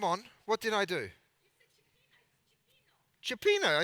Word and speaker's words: cioppino: Cioppino.